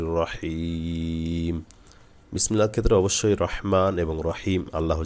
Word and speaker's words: রহিম: বিসমিল্লাহর ক্ষেত্রে অবশ্যই রহমান এবং রহিম, আল্লাহ যে দুইটা নাম আছে অবশ্যই সহি করে বলবো। রহমান অর্থাৎ হা গলায় যাবে, রহিম এই হা গলায় যাবে।